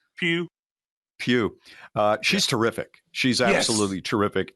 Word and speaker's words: Pugh: And I agree with you that Florence how is her last name pronounced? Pugh.